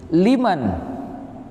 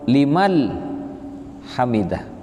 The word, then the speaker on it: liman hamidah: Karena saya sering beberapa kali mendengar, bukan hanya satu orang, jadi imam bacaannya bukan liman, bukan mati ke nun, ma bertemu dengan nun sukun, tapi dibacanya Sami'allahu limal hamidah, pakai lam matinya, huruf lam, limal hamidah.